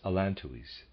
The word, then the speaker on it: allantois: Readers aside, I'm pronouncing the word allantois as allantois.